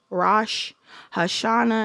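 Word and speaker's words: Rosh Hashanah: Rash Hashana.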